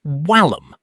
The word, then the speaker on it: vallum: In ancient Rome, the letter V was actually pronounced like a W. When a Roman soldier said vallum, it came out sounding like wallum.